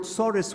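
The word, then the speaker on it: tsuris: torus is over now he used the word sorus which is the ashkanazi Yiddish way of pronouncing the Hebrew word for trouble our troubles are over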